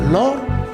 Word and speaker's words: Lorhist: la deuxème syllabe alors vous voyez que le H c'est h on va l'écrire mais on va pas le prononcer on va direre l' parce entendu direor bon là c'est on va dire lor tout simplement parce que là il s'agit de H MU voilà voilà donc pour